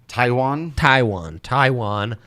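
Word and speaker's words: Taijuan: How do I pronounce Walker's first name? Taiwan.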